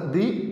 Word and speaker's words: the: যদি কনসোনেন্ট থাকে, যদি কোনো ওয়ার্ডের সামনে কনসোনেন্ট থাকে এবং তার আগে যদি টিএইচ থাকে, তখন এই টিএইচকে আমরা দা বলবো।